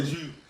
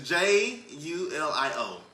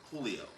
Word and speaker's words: Julio: I would say Jew. It's Julio. Julio. The J is silent.